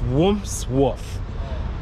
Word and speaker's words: Wandsworth: I don't know, I can't pronounce the word. It's Wandsworth.